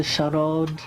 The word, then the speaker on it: sarod: And I really love Indian music, particularly the charod. I pronounce it in the Bengali mode because I learned to play it when I was living in Calcutta.